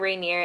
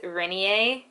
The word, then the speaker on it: Rainier: how it's spelled but she kept pronouncing mount rainier as renier and when i first